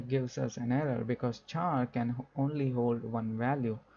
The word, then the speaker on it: char: call it as char some people can pronounce as a char some people say scare so i think the correct pronunciation is char right so this is